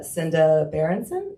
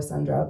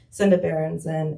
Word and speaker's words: Senda Berenson: of women's basketball, uh Senda Berenson, I think that's how you say her name. I always want to put an R in there. I always want to call her Sandra, but um Senda Berenson, and I wanted to